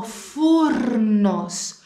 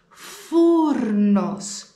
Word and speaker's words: φούρνος: Ο φούρνος. Φούρνος. Έχω παρατηρήσει ότι πολλοί μαθητές δεν προφέρουν το ρο πριν από το νι. Στα ελληνικά όμως πρέπει να το προφέρουμε.